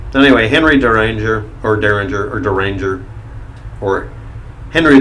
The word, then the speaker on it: Deringer: zorda ringers his actual name is but is pronounced derringer but it's spelled during ur de ringer and